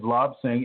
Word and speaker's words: Lobsang: Lobsang, L-O-B, B as in Bob, S as in